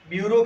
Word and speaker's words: bureau: वैसे ब्यूरो की स्पेलिंग भी देख लेना ध्यान से, ब्यूरो की स्पेलिंग खास BUREAU, उच्चारण में सिर्फ ब्यूरो होता है लेकिन स्पेलिंग थोड़ी अलग है कई बार, क्योंकि LDC